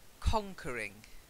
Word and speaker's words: conquering: your pronunciation was fine it was the stress so it's conquering conquering that's it perfect to conquer she